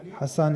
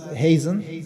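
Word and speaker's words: Hasan: In the West, he is known as Hazen because of a mispronunciation of Hassan, because his name was Hassan ibn Hassan.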